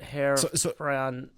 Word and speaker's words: här: Like the German hair doctor almost more, but like har. Pretty much, yeah. Få det här från någon annan kille.